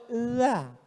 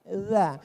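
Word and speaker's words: ذ: Bahasa Arab itu ada huruf za, ada huruf ja, ada huruf d, ada huruf dza. Dza. Letakkan ujung lidah di atas gigi. Atas gigi atas.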